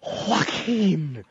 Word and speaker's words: Joaquin: wrong he said Oh Joaquim Oh anybody with a silent J in the beginning of their name Joe Walker got a